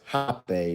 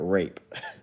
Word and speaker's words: rapé: last week talking about hop a snuff is pronounced hot bay but it looks like it looks like a rape but it's pronounced hot pay if y'all are